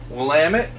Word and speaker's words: Willamette: going to be honest I thought that was Willamette uh but I have since learned Willamette is the correct pronunciation we've got that going